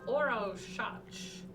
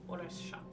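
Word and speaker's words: Orašac: It is pronounced Orshach, but it is written O-R-A. S with a little downward caret above it. A-C. Pronounced O-R-A-S-H-A-T-C-H. Orshach.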